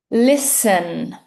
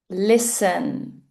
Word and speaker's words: listen: The first word, listen. Listen. Can you notice that the "t" is silent.